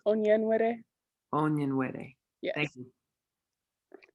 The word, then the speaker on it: Onyenwere: My last name is pronounced Onyenwere.